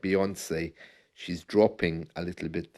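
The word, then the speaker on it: Beyoncé: it strange that uh the word or the name Beyonce rhymes with fiance isn't that strange I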